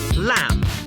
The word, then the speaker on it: lamb: Think of the words co, lamb, climb. The B is silent, but you'll notice that the letter M comes before the silent B.